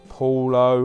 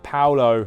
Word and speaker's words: Paolo: Paulo, or as I always say it wrong, sorry, Paolo Maldini, the greatest ever defender in the world ever.